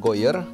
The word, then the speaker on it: Gooijer: pertama info soal Tristan Goyer, benar ya gue bacanya? Goyer. Tadi. Hoyer. Ada kumurnya dikit gitu.